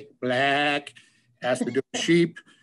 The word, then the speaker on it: Blaack: For lack of a better term, it's spelled BLAACK, black, has to do with sheep and Scotland, long story behind that one.